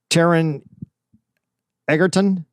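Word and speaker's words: Taron Egerton: here i got his name right here uh taran eggerton toronto toronto t-a-r-o-n uh then it's e-g-e-r-t-o-n i can't say tyron eggerton did i say it right the first time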